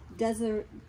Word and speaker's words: Desiderata: And she got a, boy, this is beautiful, Desiderata.